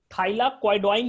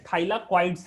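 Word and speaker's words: thylakoids: थाइलाक्वाइडोइन नहीं है, ठीक है, थाइलाक्वाइड्स है, स्पेलिंग मैं फिर से लिख दे रहा हूं, थाइलाक्वाइड्स, थाइलाक्वाइड्स।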